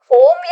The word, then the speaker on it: ओम: ओम का उच्चारण करेंगे ओम में बताया जाता है कि आ उ म होता है तो इसी तरह से